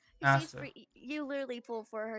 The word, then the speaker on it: Asta: So like if Natasha, what about Ashta? Is that how you say her name? Asta.